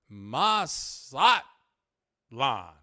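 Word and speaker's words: Mazatlán: satlan with an infinite with an emphasis on the last a Mas slot La I'll work on it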